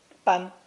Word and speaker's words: 班: Pronounced first tone. Ban, ban.